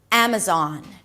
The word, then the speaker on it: Amazon: Amazon. The first syllable is the A as in cat.